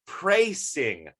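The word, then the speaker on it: precising: latin term uh and in latin at least in british english not sure about american or canadian uh you would actually pronounce this as a praising definition um and this is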